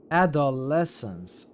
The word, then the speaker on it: adolescence: Uh, I saved right accent is on the uh NS adolescence. Adolescence. Okay. Not on the not on doll.